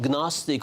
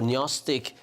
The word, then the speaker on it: Gnostic: we had some so-called Gnostic or netic gospels uh depending on how you pronounce them found in Egypt uh